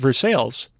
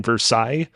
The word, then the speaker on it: Versailles: city of Montreal like I got to appreciate ver sales kind of a weird way that you pronounce it because it was just in Versailles in France in correct don't say that here